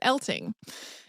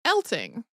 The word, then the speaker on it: Eltinge: that it was pronounced elting like with a hard G but there is a